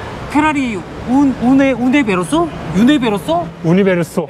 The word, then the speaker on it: Universo: 우니베로소. 네, 우니베로소. 네. 아, 뭐 유니버셜. 유니버셜. 그죠? 유니버셜. 너무 어려워요, 네.